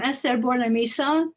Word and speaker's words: Eszter Bornemisza: So I'm Eszter Bornemisza. That's how it is pronounced. I know it is difficult. It's just you have to forget about the Z in my name and then it's perfect.